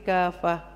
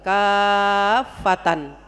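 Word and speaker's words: كافة: Haknya tuh tak marbuto dibaca jadi hak, ya. Di akhir kalimat itu ngaji juga. Kalau nggak ngaji dibacanya apa? Kafatan. Berhenti tapi dibaca kafatan. Jadi fatan ya Bu ya. Kalau mati jadi ha.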